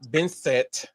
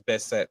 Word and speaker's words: Bessent: had a physical altercation with Treasury Secretary Scott Bessent. I think that's how it's Bessent, or one of those ways how you pronounce his name, in the West Wing of the White House.